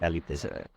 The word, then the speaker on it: Kali: Kali. The pronunciation, the Western pronunciation is wrong.